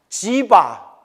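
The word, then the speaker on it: जीव: 수자, 지바. 네, 지와라고도 발음하고요. 지바. 정확히는 비읍과 이음의 중간 발음이래요. 그래서 지바라고도 표기하고요. 지와라고도 표기해요. 그러니까 여러분 잠깐 저를 한번 보시겠어요?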